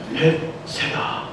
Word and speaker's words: 벳세다: 벳세다. 예, 발음을 잘 하셔야 됩니다. 벳세다. 띄면 이상해요. 그냥 붙여서 벳세다.